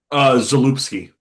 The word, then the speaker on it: Zalupski: the Sternberg era to the, how do you pronounce his last name? Zapolsky? Zalupski.